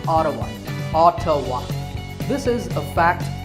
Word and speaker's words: Ottawa: the capital of Canada is audible yes it's pronounced Ottawa autowash this is a fact about the world